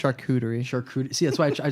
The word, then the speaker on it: charcuterie: I can't pronounce um chartreuse boards and it wasn't on a board of chartreuse it's short Rooter II I think charcuterie short CS why I